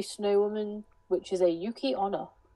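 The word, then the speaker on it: 雪女: woman, which is a Yuki Onna. I don't think you pronounce it like that. Yukiona. Yukiona. No, apparently Ona is woman because all the women one end in Ona.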